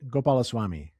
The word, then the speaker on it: Gopalaswami: We're thrilled to have on our podcast today, Bharath, I'm going to try and say it right, Gopalaswami. Did I say it right? Gopalaswami.